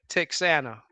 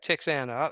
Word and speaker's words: Texana: Yeah, Texana. I think that's the way it's pronounced.